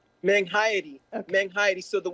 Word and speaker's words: Menghayati: Meng Haidi.